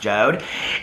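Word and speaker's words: Jord: to do um the joe'd watches the wood watches it's like j-o-r-d but it's pronounced joe'd and um people reached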